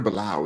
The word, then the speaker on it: Bilal: Um, brother Bilal is how you say his name, Brother Bilal.